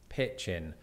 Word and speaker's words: pitchin: But it does apply to this word, pitchin, which is easy to remember because it rhymes with both kitchen and bitchin.